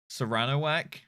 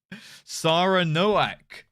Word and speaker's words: Saranoak: How did you say my name? Serranowak? Is that not how it's said? Serranowak? Saranowak? Serrano Whack? What? Oh! Saranoak. That makes more sense.